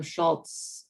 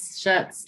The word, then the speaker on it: Schutz: the city manager, Schultz, right? That's his name, Schultz, I think. Am I saying it wrong? Yes, Schutz, no L. Schutz, okay.